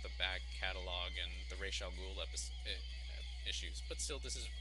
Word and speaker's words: Ra's al Ghul: What's interesting about this episode is it sets up a build-up to Ra's al Ghul. Just joking, that's the Batman Begins pronunciation, which is just embarrassing. But Ra's al Ghul and his daughter and Vertigo.